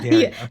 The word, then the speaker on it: Daria: Daria. Think of like Okay, if this helps. I live in Wisconsin. Dairy. Dairy. Cow.